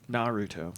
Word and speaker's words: Naruto: firstly not Ruto and pretty much all three syllable Japanese names are pronounced with stress on the first syllable only Naruto Naruto secondly kareja gets a